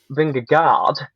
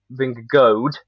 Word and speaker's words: Vingegaard: i think it's finger finger guard as in like so he really does butcher the double a and goes finger guard a lot of people say vince vince goad and then like rob